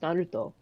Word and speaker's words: Naruto: How do you pronounce Naruto, Char? Like that. I say it like that because, it's pronounced Naruto.